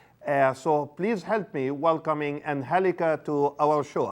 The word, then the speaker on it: Angelica: Angelica because the E has an accent mark, which makes it, you pronounce the E more, I guess.